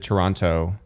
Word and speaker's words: Toronto: like us pronounce it Toronto it's really - the second T or something like that it's like Rana Murano Burano yeah yeah yeah Toronto there's no the T is silent the second T is so is that